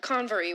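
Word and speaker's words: Convor: The Conv.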